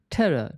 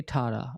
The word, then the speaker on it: terror: is really important here terror terror don't say Tara okay terror Terror in